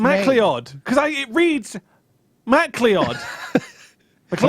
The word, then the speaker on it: MacLeod: Trot would be a grand design, Kevin MacLeod. I think that's actually pronounced McLeod as well.